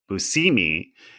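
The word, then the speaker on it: Buscemi: And John told me that he asked Steve how his last name was said and Steve said Busousimi and then John was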